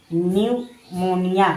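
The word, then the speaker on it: pneumonia: पी एन ई यू एम ओ एन आई ए न्यूमोनिया। निमोनिया देखिए पी के बाद एन दिया है यानी पी साइलेंट यहां रहेगा यानी न्यूमोनिया।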